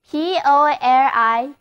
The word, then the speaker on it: politician: 单词 politician, P-O-L-I-T-I-C-I-A-N，第一次母在读作 sh。